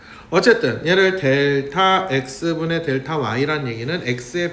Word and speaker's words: 델타: 요거를 뭐라고 읽느냐? 얘는 델타라고 읽는다. 델타. 그리스 문자 D에 해당하는 거야.